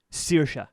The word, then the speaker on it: Saoirse: Saoirse. Saoirse. So Saoirse is Gaelic for freedom. Like searing a steak.